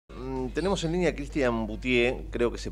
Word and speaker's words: Buttié: Pronuncié bien tu apellido, ¿no? Boutier. Sí, Boutier. Así ¿Qué, está ¿qué francés esto?